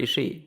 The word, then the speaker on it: Ishii: They never say Ishii. No, it's Tomohiro Ishii. Yeah. You just say the Ishi. You just say the E a little bit long.